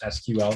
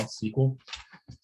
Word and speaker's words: SQL: uh just sql sql both are valid pronunciations you may have heard people saying sql or sql um the original technology was supposed to be an acronym that was like s-e-q like or however you spelled sequel the word it was